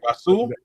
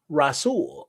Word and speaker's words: Rashul: Rasool. The H is the H is silent. Silent. My bad. Rasool.